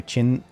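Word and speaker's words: Qin: China because the Q is pronounced as ch in Chinese.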